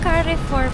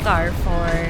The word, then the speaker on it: Carrefour: Yan so carry 4 pala iyung pronunciation. Hindi car for car four.